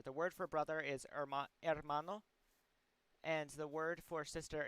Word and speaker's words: hermano: way to spell it you may notice that there's an h there but i said hermano instead of hermano that's because in spanish the letter h does not make a sound um instead the letter